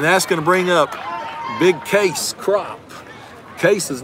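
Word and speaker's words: Kayce: is spelled ka yce so if you read it's gonna sound like Casey which I made plenty of mistakes calling them but his actually his mama named in case it's pronounced case not Casey that's a strike and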